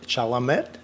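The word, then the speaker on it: Chalamet: uh I love uh the the lead actor Chala met so yeah that's how you say his name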